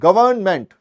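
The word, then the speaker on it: government: तो गवर्नमेंट की स्पेलिंग में एन का थोड़ा सा साइलेंस रहता है। तो मैं उसको पता है कैसे जाता हूं? गवर्नमेंट। तो एन आता है भाई उसमें। वरना मैं एन खा जाता था।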